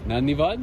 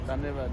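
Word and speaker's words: धन्यवाद: Nanivad? Dhanyavad, yeah. You know where I saw a big Nepali Namaste. community is in Portugal. Portugal, there's a lot of a big Nepali community. Dhanyavad.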